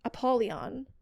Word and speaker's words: Apollyon: prince of the pit, Apollyon, has wished to meet him, so he brought him there. Just say something. What, did I say the name wrong? No, you didn't.